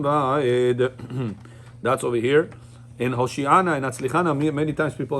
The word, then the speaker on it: Hoshiana: In Hoshiana and Atzlichana, many times people make mistakes. Anna Adonai Hoshiana. Now, where did I put the emphasis? On the shin. Hoshiana. Right? You're not supposed to sing it Hoshiana.